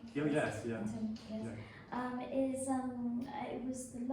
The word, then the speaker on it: Antony: As I pronounce it right? Oh, yes, yeah. Antony, yes.